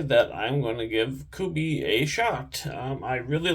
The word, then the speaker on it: Kubey: tonight so um the first one is a kubi koas uh could be a spell k-u-b-e-y cohes is spelled c-o-e-u-s um so I have never um